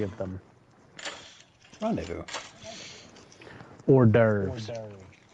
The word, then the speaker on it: hors d'oeuvres: Hors d'oeuvres. Horse doovers.